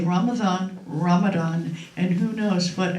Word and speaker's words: Ramadan: so how do we say the first word Ramadan on the D is the way it was spelled in English but not it's pronounced so it's Ramadan as in th and Judy's been trying in